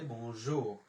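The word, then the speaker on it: bonjour: তখন যেমন আমাকে দেখালো বনজুর জুর, মানে দাঁতে চিবি লাগাইয়া বলতে হবে বনজুর, না হলে এই জুর ঠিক মতো উচ্চারণটা হয় না।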